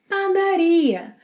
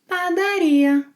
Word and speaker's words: padaria: Padaria. Padaria. Place the stress on ia. Ia. Padaria. Similarly to what you do when saying gostaria, compraria, trabalharia, padaria. Padaria, by the way, padaria means bakery.